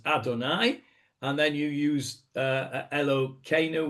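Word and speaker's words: אדני: I think it's when you use Shem u'malchut, as we say, when you use the terms Yud Ke Vav Ke, which we pronounce as Adonai, and then you use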